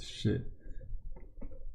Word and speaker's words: Xie: is the last name Xie or Sid in Cantonese. This is another. Yeah, that's the pronunciation of Xie in Cantonese. T-S-E-C. Yeah, the Mandarin pronunciation is Xie.